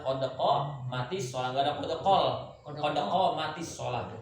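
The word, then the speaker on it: قد قامت الصلاة: Qodokol mati sholat. Nah, qodokol mati sholat. Yang benar adalah qodoko mati sholat.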